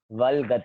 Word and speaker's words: वल्गत: वलगत, आधा ल है तो आधा ही ल उच्चारण आना चाहिए।